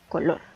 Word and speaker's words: color: E igualmente está dividida en 2 sílabas, solamente que aquí la sílaba tónica recae en la última sílaba, color.